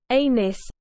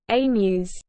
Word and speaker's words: Aenys: NYS yielded air NYS it is pronounced like both elements in his parents names anus but not a news Anis was considered to